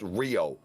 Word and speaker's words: Rayo: but tonight Echo and Rayo yo these guys matched up really really well together um we've seen Echo take a normal move and and be able to hang on to it it's pronounced Rio okay very good um